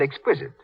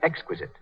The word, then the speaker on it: exquisite: Mary Jane's mother said exquisite. She should have said exquisite.